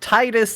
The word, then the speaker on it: Tidus: where i come in the whole thing is based around water and titus sounds like the tide that's the name it